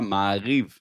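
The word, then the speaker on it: Maariv: Se escreve Ma Arive, só que em hebraico você vai falar Maiv. pelo menos o hebraico que é falado lá em Israel hoje.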